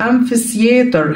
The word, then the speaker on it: amphitheater: Roman amphitheater، the Roman amphitheater، هنا ال P وال H بنتق F، okay؟ وعندنا ال T وال H هنا بتتنطق زي حرف ال C، ماشي؟